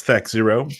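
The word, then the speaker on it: THAC0: It's THAC 0. You pronounce it right.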